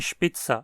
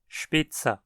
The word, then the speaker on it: Spitzer: Por exemplo, em fora, motorista, ou em spitza, apontador. Nesses casos, nunca reduzimos a para a. Sempre fora, Spitze.